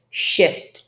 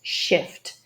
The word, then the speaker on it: shift: This is a problem that many students have between the short and long E sounds. If you're looking for materials on that, have a look in my Just Say It pronunciation course. There's plenty of stuff to do with it there. If you don't have access to these materials, basically focus the students' attention and make sure to drill the proper pronunciation of shift, shift.